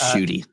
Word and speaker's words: Ncuti: Yes, it's Ncuti.